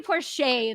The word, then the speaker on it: Porsche: you pronounce your name it's the same as porsche the car right what do you call him yeah i just call him shay so it would be poor shay then yeah interesting um